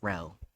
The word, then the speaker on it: Rho: In case if you're wondering how to say RHO, it's Ro. That's how it's pronounced.